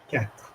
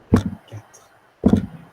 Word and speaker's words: quatre: The R is very soft. Quatre. But do not emphasize the second syllable. Quatre.